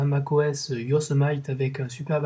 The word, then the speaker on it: Yosemite: Je vous épargne la prononciation anglaise, puisque vous savez que j'ai un très bon accent. On va le dire à la française, Yosemite, et puis c'est tout.